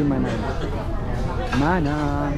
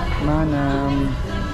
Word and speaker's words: Manam: Hello Dito po Okay manam manam pala ang pronunciation hindi man mana Ang ganda ng ano